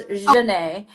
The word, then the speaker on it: Zhonnae: So my name is pronounced for the viewers. It's pronounced Zhonnae. Oh, I've been saying So it wrong. no, it's okay. A lot of people do. As long as you say the je part, I'm fine.